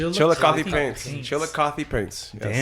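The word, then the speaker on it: Chillicothe: I couldn't pronounce it. So, that's why I asked you to say it. Chill. Chilly Paints. Chilikothy Paints.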